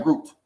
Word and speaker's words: gruit: variety of herbs to it was called group back then. You know, and but they was using a variety of Called herbs what? as grouped, like I am grouped, Yeah, I'm like about